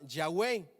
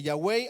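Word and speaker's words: Yahweh: google ya a mí me dijeron que ese te tragamos tetra grama ton se pronunciaba ya way ok ahora eso no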